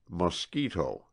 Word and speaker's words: mosquito: It is called a mosquito, pronounced mosquito, and it is, perhaps, the most tormenting, the most persevering, savage, vicious little monster on the face of the earth.